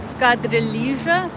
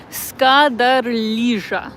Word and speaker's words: Skadarlija: I'm gonna say it wrong probably. Skadarlija? I think you pronounce the J here. I'm still like, you know, learning how you pronounce some of the extra letters here in Serbia, but this